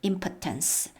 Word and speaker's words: impotence: 자, 첫 번째 단계는 바로 recognizing your impotence. 여러분, 우리가 중요하다 그러면 importance 해서 스펠링도 다르고 강세가 이음절인데요. 요것은 impotence 하면 무능력, 무력함입니다.